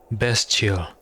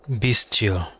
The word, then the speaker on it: bestial: of a kindle spark so that's how you pronounce it bestial not be still okay what would ari